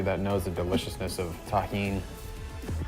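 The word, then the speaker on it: tahini: Shout out to everybody that knows the deliciousness of taheen. That's how you pronounce this.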